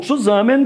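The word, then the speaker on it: zusammen: significa opostos E o Zé vem de uma palavra alemã que se pronuncia mais ou menos como Suzano que quer dizer juntos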